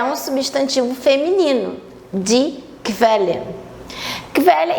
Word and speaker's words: Quelle: de velha e chamo logo atenção aqui para pronúncia do esse U depois do que ele tem um som de ver velha velha bem rapidinho Velha São poucas as palavras que